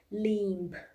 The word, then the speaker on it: limb: comes after A, in that case also B is silent. Like comb, tomb, limb, thumb, all the B is coming after M.